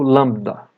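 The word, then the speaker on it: λάμβδα: A próxima letra é o lambda, que tem som do nosso L. Lambda.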